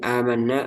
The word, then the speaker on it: آمنا: Jadi amanna asalnya itu ada 2 hamzah yang terdiri dari hamzah Hamzah berharokat dan hamzah yang kedua sukun. Aman. Aman. Karena orang Arab itu susah bacanya, maka dia dibadal, diganti ke alif.